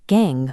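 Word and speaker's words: gangue: Notice the word gang on the screen, pronounced just like gang.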